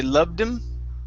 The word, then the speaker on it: loved him: You can drop the H and say loved him.